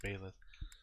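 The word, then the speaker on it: Byleth: the male violet or baylor i think it's pronounced bayless um has its own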